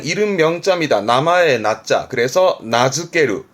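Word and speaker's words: 名付ける: 그래서 나즈케르. 말 그대로 이름 붙이답니다. 나즈케르. 이름 붙이는 나즈케르. 날짜가 붙었네요.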